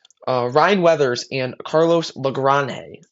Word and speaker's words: Lagrange: Uh Ryan Weathers and Carlos Lranhe. I believe that is how you pronounce it. I've seen a few different things. I believe it's Lranhe both have looked really good uh for the start of spring training.